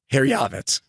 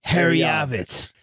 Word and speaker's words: Herjavec: Herjavec. That's how you say it. Herjavec.